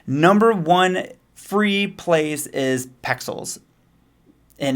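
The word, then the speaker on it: Pexels: find my images number one free place is pixels and it's p e x e l s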